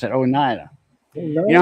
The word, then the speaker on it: Oneida: That's how you pronounce it, Oneida.